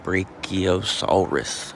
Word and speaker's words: Brachiosaurus: Pronounced Brachiosaurus, literally arm lizard.